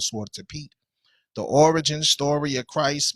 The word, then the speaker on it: Zwarte Piet: We're going to discuss this thing called Zwarte Piet, the origin story of Christ's Mass.